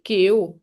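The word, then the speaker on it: Kaew: So in Thai, the G is kind of half K, half G, like Gale. It's kind of pronounced in the back of the mouth, Gale. So So it's it's different than the English G.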